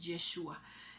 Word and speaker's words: Yeshua: Jesucristo, la pronunciación original en hebreo cuando el Señor Jesús anduvo aquí en esa época en la tierra es Yeshua.